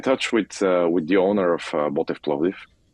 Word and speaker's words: Botev Plovdiv: I think what you're doing in Bulgaria with Botev Plovdiv, is that how you pronounce it?